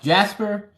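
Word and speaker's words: Caspar: were there were malcore Casper or otherwise pronounced Jasper and Balthazar so you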